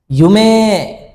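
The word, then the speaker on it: ゆうめい: এবং ইউমে শব্দটাকে জাপানিজ যখন কথা বলে তখন ষিরেই না বলে বলে ষিরে ষিরে ইমে ইমে এই যে মে এর পরে ই না বলে এ বলে যদি উচ্চারণে যেহেতু এ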